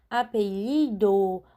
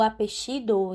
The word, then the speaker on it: apellido: É escrito com 2 L's, que é o doble L, né? No espanhol. E pode ser pronunciado como apelido ou apellido em alguns outros países, né? Que tem o xeísmo.